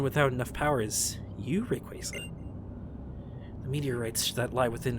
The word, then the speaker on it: Rayquaza: do i summon thee rayquaza hey look at that it worked wow dude someone could have power just summon a random pokemon that's pretty neat that's not how you pronounce rayquaza sorry bud rayquaza i did it i